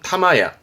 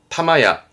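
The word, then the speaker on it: 霊屋: 발음은 타마야, 타마야.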